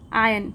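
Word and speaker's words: iron: the window there were आयन तो यहां पे आर साइलेंट होता है इसे आयन पढ़ते हैं देयर वर आयन बार्स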